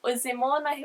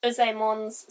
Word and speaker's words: Uzaemon: Sorry if I'm getting these names really wrong, because I probably am, but Uzaemon, I believe is how you say it, maybe.